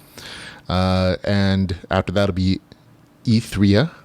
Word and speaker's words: Ethria: and after that'll be etherea that's how the author asked me to pronounce it e3o the pioneer an